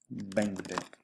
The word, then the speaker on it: veinte: diez y nueve 20: veinte that "v" is pronounced like a "b" when you get